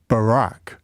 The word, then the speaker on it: Barack: Texas don't they um how would you say he didn't Barack Obama because he sort of says more like Barack right we're disappearing down